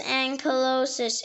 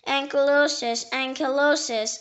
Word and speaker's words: ankylosis: joint, caused to grow together in one, produce ankylosis in ankylosed bones. It is irregular from New Latin ankylosis, and silosis.